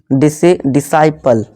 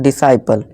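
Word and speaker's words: disciple: ठीक है, इस तरह से देखिए डिसेंट, यहाँ क्या है, सी साइलेंट है। Seizures, fascinate, डिसाइपल। ठीक है दोस्तों, डिसाइपल, सॉरी दोस्तों, यहाँ सी साइलेंट है, डिसाइपल।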